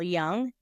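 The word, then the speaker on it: Jung: is the work of Carl Young and it's spelled j u n g for those who are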